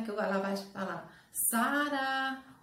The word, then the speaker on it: Sara: Sara, ô Sara! Ela demorou mais no quê? No sa. Então, a sílaba mais forte da palavra Sara é sa, certo?